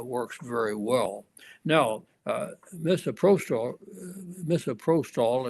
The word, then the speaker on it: misoprostol: very well now misoprostol misoprostol is how it's pronounced I think is really